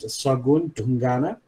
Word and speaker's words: Sagun Dungana: My name is Sagun Dungana. We pronounce it Sagun Dungana in Nepal.